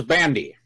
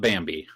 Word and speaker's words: Bandi: you hear him say my name is bandy bandy not Bambi I'm not that cheap